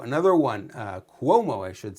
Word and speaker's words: Cuomo: Andrew Cuomo, another one, Cuomo, I should say, pronounce the name properly.